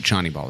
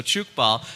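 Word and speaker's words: Tchoukball: to us if you if you would what chny ball is yes so chuk ball and I want to talk about because you're mispronouncing Johnny just like c h o t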